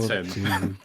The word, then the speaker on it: chitin: Shitting it if I It's want pronounced to. Shitting it if I want chitin.